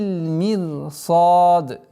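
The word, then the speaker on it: مرصاد: Здесь сад твердый, удлинение в размере двух огласовок, аннулируется кесра, уходит в сукун. И таким образом «Инна раббака лабил мирсад».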